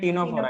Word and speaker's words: Ctenophora: हाँ, अगला लिखना है टीनोफोरा। Ctenophora. टीनोफोरा का स्पेलिंग क्या होता है?